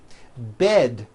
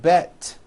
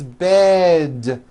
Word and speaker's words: bed: towards with D endings bed has a voiced d ending it's not bet with an unvoiced T its bed with a voiced d